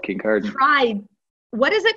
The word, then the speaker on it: Kincardine: I was, yeah, in a small town called Kincardine. What is it called? I tried to pronounce it and I couldn't for the life of me. Kincardine. It's Kincardine.